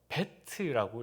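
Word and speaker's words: בית: 집을 그려놓고 베트라고 읽었습니다.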